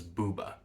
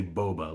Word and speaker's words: Bouba: Incidentally, I'm pronouncing it Booba because that's how Wikipedia says it's pronounced. To me, that sounds like an Italian person talking about female anatomy. My instinct is to say boba, like bubble tea.